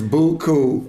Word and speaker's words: Beaucoup: Beaucoup.